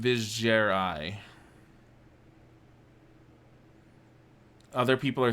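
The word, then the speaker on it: Vizjerei: I guess it is Vizgerai. I've been pronouncing it correctly all these years.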